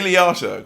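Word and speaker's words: Liotta: screen yeah um with Ry I wanted to pronounce Ray's um surname as ler and that's not ray ray leot ray leata when you said Ray lawyer that sounds like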